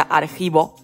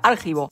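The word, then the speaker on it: argivo: siempre había pronunciado mal la palabra archivo que resulta que lleva el acento en la i y yo como Argos lo lleva en la o siempre le decía aljivo dato curioso El caso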